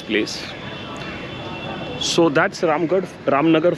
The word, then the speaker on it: Ramnagar: so that's Ram good ramnagar Fort sorry I keep pronouncing it ramard again and again and that's the small